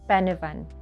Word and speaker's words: Pen y Fan: The correct way to pronounce this iconic Welsh mountain is actually Pen-y-fan, which means top of this place, or summit